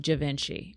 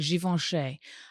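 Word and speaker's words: Givenchy: to be like, "Oh, I love the smell of Javinci." And they're like, "It's not how you say that." I was like, "How do you say it?" And they're like, "Jivven."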